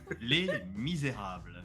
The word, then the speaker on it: Les Misérables: Would Arson like to pronounce that for me? Les Misérables.